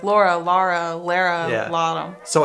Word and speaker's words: Lara: I like the way that Lara is pronounced in German. Lara. If you say it Lara. Lara. You don't know. I don't know if you Laura. Say it Lara, Lara or Laura. I think that's an American thing.